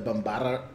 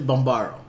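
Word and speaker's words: Bambarra: The Bombada. You said that beautiful just now. But it's Bombaro.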